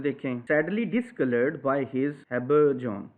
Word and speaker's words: habergeon: अब मॉडर्न में देखें sadly discoloured by हिज habergeon, इसकी प्रोनाउंसिएशन है habergeon।